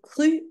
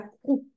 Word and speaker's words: cru: C'est le pruno et pas pruno et cru et pas crou. OK. Attention. U pas ou.